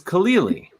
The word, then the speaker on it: Khalili: But your last name is Khalili. Am Yeah. I pronouncing that right? Mm-hmm. But that's not hard. It's like Khalil Gibran. Yep. And then you add an E, another E sound.